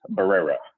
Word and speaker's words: Barrera: My last name is Barrera. Barrera. Barrera. It's all that Yeah, I got to get those Rs going.